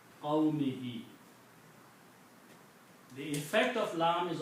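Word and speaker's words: قَوْمِهِ: In the pronunciation and tajweed, this is also pronounced as a kasra. Okay. So this becomes qawmihi.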